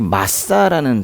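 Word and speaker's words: מַשָּׂא: 신탁이라는 단어, 이거는 히브리어의 이 마사라는 단어예요. 신탁이라고 번역된 이 단어는 마사라고 읽어요.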